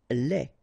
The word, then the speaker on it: lait: Lait. Un lait. Okay, so the only difference is the final thing here, D, you don't pronounce it, T, you don't pronounce it, so phonetically you only have this lait.